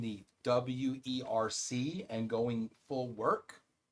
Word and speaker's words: WERC: Work is the preferred term pronunciation. That's that's the preferred way to say it.